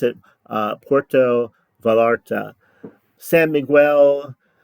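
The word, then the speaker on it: Puerto Vallarta: heard for this but it's Porto like Puerto Rico and VA l l a r ta I pronounce it uh Porto valarta San Miguel D alende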